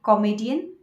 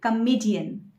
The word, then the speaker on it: comedian: Do you say comedian? No, that is not the correct pronunciation. You should say comedian.